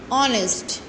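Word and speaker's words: honest: अब जैसे मैं लिख रही हूँ ऑनेस्ट, लिख तो इसको हॉनेस्ट रहते हैं, एच लिखते हैं, बट एच जब हम प्रोनाउंस करते हैं, इसको प्रोनाउंस करते वक्त इसमें हमारा एच जो होता है साइलेंट हो जाता है एंड ओ से स्टार्ट होता है.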